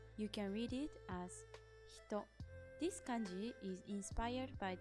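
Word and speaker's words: 人: You can read it as hito.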